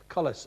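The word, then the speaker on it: Colles: And it's spelled C O L E S. Collis fracture.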